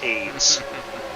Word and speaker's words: Ayds: what you're talking about ayds pronounced aids right before the right